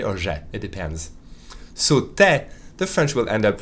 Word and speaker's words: tu es: You know that tu es, the French will almost always pronounce it te. Te sounds very much like te. Sometimes the French will pronounce te really instead of te.